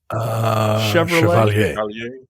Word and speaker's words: Chevalier: Michael, what is the proper pronunciation of this? You're half French. Chevalier.